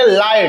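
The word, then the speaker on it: light: लाइट, क्योंकि जीएच हमेशा silent रहता है।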